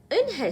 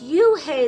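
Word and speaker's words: Unhei: "Eun-hae," said Eun-hae. "Eun-hae?" the girl asked, scrunching up her face. Eun-hae," some kids chanted. No, Eun-hae corrected. It's spelled U-N-H-E-I. It's pronounced Eun-hae. "Oh, it's you-hae," the boy said.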